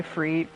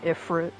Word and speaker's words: Ifrit: I'm gonna be saying Ifrit, because that's usually how it's pronounced anyways, but people say Ifrit in 14.